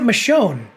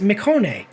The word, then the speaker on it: Michonne: new series The Walking her name is not Michonne she pronounces she herself says Mone you had one job